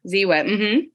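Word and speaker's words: Ziwe: on the show yes yes I know yeah Zee whip okay so I was watching one of her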